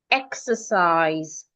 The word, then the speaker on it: exercise: So most times it sounds e if you're stressing the syllable where you have the e exercise. The letter e there sounds e. And that is because the first syllable where we have the e x is a syllable that we are stressing exercise.